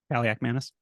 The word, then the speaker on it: Kaliakmanis: Pronunciation. Kaliakmanis.